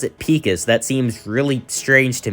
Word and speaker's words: Pecos: Yeah, they pronounce it Pecos.